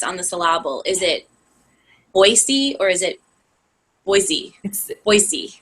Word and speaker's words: Boise: to learn but like we all grew up saying Boise with a z but when you move